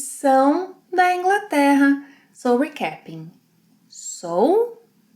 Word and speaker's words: sou: Eu sou, two distinct sounds.